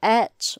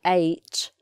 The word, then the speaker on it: ate: is a funny one the way it's pronounced i ate or some people say eight it could be either